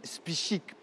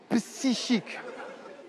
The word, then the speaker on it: psychique: feuilletons nouvel sur l'équilibre psychique des gondanaises. Le de la doucement doucement noter. OK. Donc l'équilibre psychique, hein, l'influence des feuilletons novelas sur l'équilibre psychique des Gondouanaises. Hm hm. J'ai pas dit spichique, psychique.